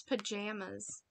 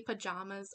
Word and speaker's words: pajamas: that's what i say how do you pronounce pajamas i say it like jam got jam you can also say pajamas i've heard it either way but i say pajamas